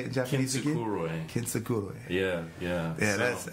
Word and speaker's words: Kintsukuroi: Kintsukuroi.